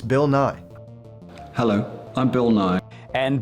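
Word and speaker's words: Bill Nighy: and they were saying that's not how you pronounce his name like don't you know how to pronounce his name I do it's this is one of my favorite series it is Bill Nye I'm I swear you can look it up for yourself it's not Bill nightly there's no T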